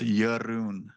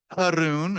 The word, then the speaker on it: Jeroen: The J is pronounced as a Y, and the R rolls. So it's Jeroen. Jeroen. Jeroen. A lot of people say Haroon, or because a lot